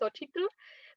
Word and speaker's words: Xochitl: I'll be honest, I don't think even my parents are fully pronouncing it right because I think it's supposed to be Xochitl, being from where we are from, like Acapulco, Guerrero, it's city.